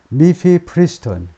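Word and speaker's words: mifepristone: 이 규칙이, 이 룰이 무엇을 허용하느냐 하면, 미피프리스톤, 발음이, 미피프리스톤입니다.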